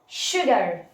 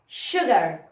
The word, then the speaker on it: sugar: ان الاس لما بيجي وراها يو بننطقها ش. طبعا برضو هقول تاني، احنا ما عندناش حاجه اسمها حاجه عامه في الانجليش، هي احنا بنلاقي الموضوع ده بيتكرر معانا ياما وبيبقى في الغالب. زي ايه؟ sugar sugar sure.